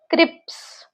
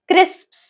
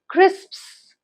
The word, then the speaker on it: crisps: It is crisps. You would only be able to get the P sound when you would practice more. So practice this word crisps.